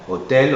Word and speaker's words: hôtel: a l'accent circonflexe mais la prononciation est ouverte hôtel hôpital cotelette rôti on dit pas rôti ou hôel attention il faut le dire d'une manière ouverte enfin il y a